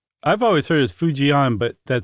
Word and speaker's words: Fujian: Well, I heard it pronounced as if it had a Y in there almost, like few. Okay. Uh Fu- Fujian.